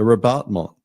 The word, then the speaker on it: rabattement: So when you're painting, ask yourself, can I do a rabattement? Rabattement. The T is silent.